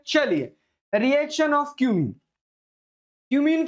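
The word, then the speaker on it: cumene: ये बेटा और कुछ नहीं बोलना है ना, इसका प्रोनाउंस है ना, अच्छे से नाम लेना, क्यूमीन, क्या बोल रहे हैं, क्यूमीन, ठीक है, और कुछ नहीं बोलना है, ठीक है।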